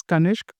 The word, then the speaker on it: Kanishk: Right, so I pronounce it as Kanisk, but technically it is Kanisk in a way.